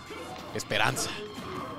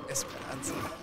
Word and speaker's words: esperanza: Yeah, the thing is, you don't say like a hard R. You have to say it like really hard, the R. Esperanza. Esperanza. Yeah, just like that, bro.